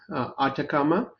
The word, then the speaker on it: Atakama: But I want to ask a little bit about the name Atakama where the name comes from. Did I pronounce it correctly?